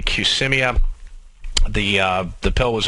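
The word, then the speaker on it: Qsymia: get their diet drug I believe the pronunciation is cmia Qs y m i a cmia the uh the pill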